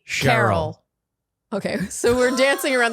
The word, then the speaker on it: Carol: So, question, is Carol and Cheryl pronounced exactly the same except for the sh and the k? Or is there a slight difference? No, they're pronounced the same. So it's Carol, Cheryl.